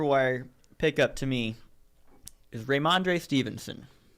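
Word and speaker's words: Rhamondre: one sneaky waiver wire pickup to me is raymandre stevenson how do you stevenson he's the running back in new england ramonde how do you spell that man r-h-a-m-o-n-d-r-e raimonde here he is here he is he plays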